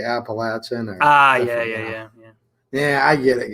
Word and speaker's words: Appalachian: Garage guy, I pronounce Appalachian wrong. I guess it's my Michigan accent. Appalachian. How do you tell them phonetically that's how I always pronounce it. Wow, the one from the South, they say Appalachian.